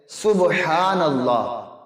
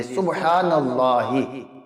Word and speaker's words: سبحان اللہ: تو دیکھیں، جب سبحان اللہ پڑھ رہے ہیں وہ سین با الف، یہ غلط۔ اصل تلفظ ہے سبحان اللہ، سین با پہ صبح حال زبر ہا، نون لام زبر نل، لام کھڑا زبر لا، حاضر یہ سبحان اللہ، یہ ہے درست تلفظ۔ اب وہ تسبیح پڑھتے